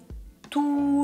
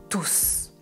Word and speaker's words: tous: travaille tous les jours je ne prononce pas le "s" et dans la deuxième phrase je prononce merci à tous attention parfois on prononce le "s" à la fin de ce mot et parfois on ne le prononce pas il y a des